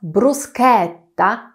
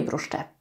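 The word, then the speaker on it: bruschetta: czyli grzyby nie Fuji oraz brusketta a nie bruszczetta się we Włoszech kiedy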